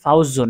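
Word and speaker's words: فوز: ওয়াকফ করব, দম ছাড়বো, তখন উচ্চারণটা কেমন হবে? তখন উচ্চারণটা হবে ফাউজ, ফাউজ। ওয়াওটাও সাকিন, জাটাও সাকিন, পাশাপাশি এক আলিফ টান হবে।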